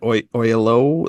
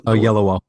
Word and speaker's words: Oyelowo: I can never pronounce his name right. David Oyelowo. Oyelowo.